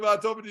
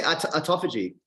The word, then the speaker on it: autophagy: say that I've got quite a bit of autophagy skincare left over. But it smells so good, man. It's the pomegranate stuff. Yeah, it's good. What do you call it? You say autophagy.